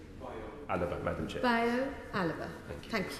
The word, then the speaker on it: Bayo Alaba: Did I pronounce that correctly? Bayo Alaba, Madam Chair.